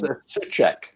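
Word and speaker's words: Souček: So the player in question is, now you've got to help me out with the pronunciation here, Alf. Yeah, it's Soucek. Tomas Soucek. Yeah, currently. Soucek.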